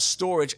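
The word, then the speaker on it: Storij: unit for those that really want boring um it's spelled storage s-t-o-r-i-j and it's effectively just a big cabinet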